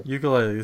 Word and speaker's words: ukulele: ukuleles. Plays guitar. It's pronounced ukulele if you want to be official. Ukulele. If you go to Hawaii, that's how they pronounce it.